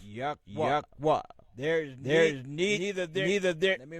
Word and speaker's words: Yahweh: What they entitled the Tetragrammaton. Which we pronounce Yahweh.